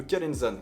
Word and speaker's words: Calenzana: jusqu'à la ville de Calenzane, qui s'écrit Calenzana. Mais bon les Corses ils prononcent pas les A à la fin des villes ni des O à la fin des mots, donc voilà, j'essaie de me la jouer à la Corse.